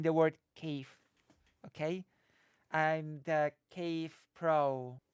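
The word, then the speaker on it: Kyiv: uh that means that cave is actually the correct way to say the name of the city just so you know with that sort of soft v Cave the Cave I've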